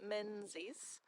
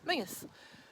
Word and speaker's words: Menzies: If you see it written down, it looks like Menzies, but when we pronounce it in Scottish, it's Menzies.